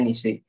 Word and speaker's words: niche: Jadi niche bukan bukan nice ya, tapi bacanya niche.